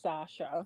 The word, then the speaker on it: Sasha: you've called in before how do I pronounce your name again it's pronounced Sasha Sasha that know it